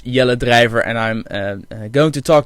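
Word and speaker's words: Jelle Drijver: name is jelly driver jelly drivers the way that the most foreign people pronounce my name in Dutch it's yellow driver and I'm going to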